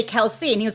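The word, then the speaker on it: Kelce: sounds along with uh the tight end travis kels yeah kelsey how you're supposed to say it i found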